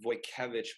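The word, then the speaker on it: Wojtkiewicz: I studied under a painter called Dennis it's pronounced boy cabbage you have to look him up he paints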